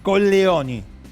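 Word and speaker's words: Colleoni: Atente con el nombre porque según cómo lo pronuncie puede decir condesa o condesa coloni porque Coglioni en italiano son los testículos. ¿Se entiende? Bueno, entonces pronunciémoslo bien. Con Leoni.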